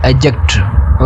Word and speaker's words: adjective: मतलब कि इसका मतलब, तो वहाँ पे हम D को साइलेंस करते हैं, तो ये वर्ड कैसा होगा, एडजेक्टिव। ओके, तो यहाँ पे D को हम क्या कर लेते हैं, साइलेंट कर लेते हैं। तो जो भी हमारा ये वर्ड है, इसका मतलब कि आज का टॉपिक, इसका नाम क्या है, एडजेक्टिव, नॉट एडजेक्टिव, एडजेक्टिव।